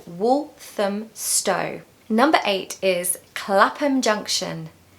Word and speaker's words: Clapham Junction: Stow number eight is Clapham Junction Clapham Junction Clapham Junction so this is another example of a word that ends with ham or ham which is pronounced if you remember as um so it's Clapham Junction